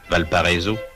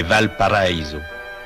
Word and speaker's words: Valparaíso: Ce que l'on prononce affreusement à la française Valparo, c'est Val Paraiso, la vallée paradis.